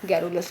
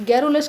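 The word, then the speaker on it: garrulous: इसका B correct होगा गैरोलस क्या बोलते हैं इसको गैरोलस गैरोलस की फ्रेंड इसकी ना स्पेलिंग भी इंपॉर्टेंट है। इसकी स्पेलिंग भी कभी-कभी आ जाती है पेपर में। आपको इसकी स्पेलिंग भी याद रखनी है। जी A double R यू एल ओ यू एस गैरोलस।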